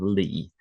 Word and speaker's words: Li: the surname family name Lee. So in the employees table, there's two different variations on this. There's LI and L E. Both of these I would pronounce Lee. They sound the same to me.